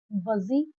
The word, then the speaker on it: budgie: I came across two new words buzzy and boozy.